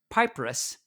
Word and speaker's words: papyrus: There's this one called the Rind Papyrus that was back Papyrus. in 16. Oh, yeah, say pronounce that again for me because I did Pap not pronounce it's papyrus.